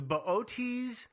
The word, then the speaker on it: Boötes: butcher this pronunciation, the Boötes, Epsilon Boötes. I'm not sure. I just call it booties myself. But I know booties isn't correct.